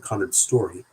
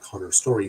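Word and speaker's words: Connor Storrie: Hudson Williams and Conrad Story let me pronounce that correctly. Hudson Williams and Connor Story stars rival NHL hotshots Shane Hollander and Ilya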